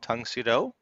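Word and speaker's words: Tang Soo Do: was a style called tungsudo it's spelled tang but it's pronounced tongue and it's a korean style and a lot of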